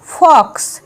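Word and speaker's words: fox: এফ ও এক্স ফক্স, ওয়ার্ডের শেষে যদি এক্স থাকে তাহলে এক্স এর উচ্চারণ এক্স এরকমই হবে।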